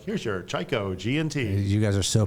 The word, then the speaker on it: Chiko: And, one night at the bar, we came up with Chiko, which is pronounced Chiko. Not Chiko. Most people say Chiko. Fuckers. Don't say Chiko.